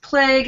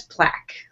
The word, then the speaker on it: plague: he pointed out that despite your thorough picking apart of his email, you mispronounced plague as plaque.